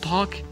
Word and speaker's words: talk: talk، تحدثت، لا ننطق L. talk، talked، talked.